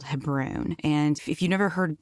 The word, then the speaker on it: Hebron: most of your life the city is actually pronounced Hebron and the reason I feel like I'm cheating